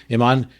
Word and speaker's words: Iman: I highly recommend look up interviews with it's Iman, right? That's how you say her name, Iman.